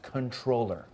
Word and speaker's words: comptroller: he was called a controller with an NT so I thought it was a different job it's not that was a misspelling comptroller is pronounced controller can I see something